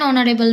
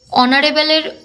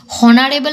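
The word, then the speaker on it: honourable: আমি কাজ করছি এান অনারেবল ম্যান। এখানে অনারেবলের প্রথমে এইচ থাকা সত্ত্বেও এইচ এর উচ্চারণটা এখানে সাইলেন্ট থাকে। ও এর উচ্চারণ দিয়ে আমাদের উচ্চারণটা করতে হয়। হনারেবল এর উচ্চারণ হয় না।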